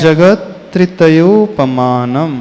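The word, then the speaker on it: जगत्त्रयोपमानम्: अलग बोलेंगे ना जगत क्योंकि जगत में त जो है हलंत है जगत तयो पमान जब हम पूरे श्लोक का उच्चारण करेंगे तो वहां पर गैप नहीं देना है पूरा एक कंटिन्यूटी में ही उच्चारण करना है तो उसको ऐसे पढ़ेंगे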